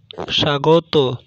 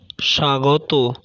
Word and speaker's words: স্বাগত: পদের আদিতে অবস্থিত ব্যঞ্জনবর্ণে বফলা যুক্ত হলে বফলার কোনো উচ্চারণ হয় না, যেমন জ্বলন্ত, জ্বলন্ত, স্বাগত, স্বাগত ইত্যাদি।